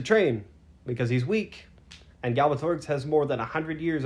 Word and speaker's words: Galbatorix: He needs to defeat Galbatorix eventually, but he has to train because he's weak, and Galbatorix has more than 100 years under his belt Right.